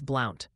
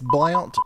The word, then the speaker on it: Blount: If you're talking Bluntsville, Alabama, it's Blount. Pronounced like blunt. Just saying. It's Blount, pronounced like blunt.